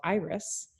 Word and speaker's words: Eyris: It's an optometry marketing company, and it's spelled EYRIS, like, so we kind of combine like iris of your eye, but eyes and the flowers.